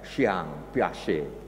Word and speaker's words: Piaget: Kalau mereka yang pernah studi di Fakultas Psikologi atau program studi psikologi pendidikan diajarkan ini, yaitu teori, sungguhnya tulisannya Jean Piaget, tapi bacanya katanya Jean Piaget. Jean Piaget, seorang psikolog dari Swiss, ya, yang membuat percobaan tentang perilaku tikus, saudaraku.